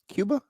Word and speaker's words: Cuba: so is it C are we going with Cuba or Kuba Cuba I'm gonna say it like I do the country Cuba the Missile Crisis yeah although I do think when you're people of Hispanic origin do say Kuba I'm probably not touching